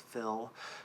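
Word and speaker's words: Phil: to the dictation is fill. It's spelled PH, but it has that initial F sound, so you spell that with an F.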